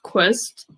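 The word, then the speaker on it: Qvist: my name is quist the pronunciation people usually get confused with it because it's a qv but the reason was qv is because it's a danish surname so from denmark so quest and i've studied a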